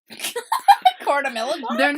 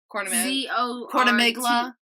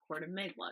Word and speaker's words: Cortamiglia: Cortamilagua. Their last name is spelled Corti. Cortamiglia. Cortamiglia. I'm yes. sorry, I'm good with Italian Cortamiglia. pronunciation.